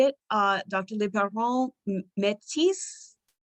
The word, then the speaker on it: Métis: Liboiron, Métis? Yeah, it's just Métis. It's not so fancy.